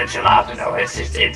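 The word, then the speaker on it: jalapeño: The jalapeno is the jalapeno, it's pronounced with a ha.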